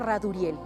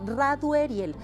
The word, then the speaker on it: Radueriel: Los escorpiones andan, bueno, traen a Radueriel, es la forma correcta de pronunciar a este arcángel, Radueriel.